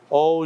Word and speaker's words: au: thing called French word o Au is pronounced like o okayu simply means the